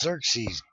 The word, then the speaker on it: Xerxes: close enough the Persian Emperor God yeah it's pronounced Xerxes goofy well it takes a long time cuz